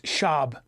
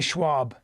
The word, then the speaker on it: Schaub: podcast with Brandon Schwab it's shab don't say Schwab I'm saying it wrong